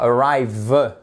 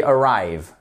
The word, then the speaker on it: arrive: qui se passe ici le E là final il est muet on dit pas arrive non on dit arrive tout simplement il faut